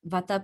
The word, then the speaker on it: vata: I pronounce them vata, pitta, and kapha.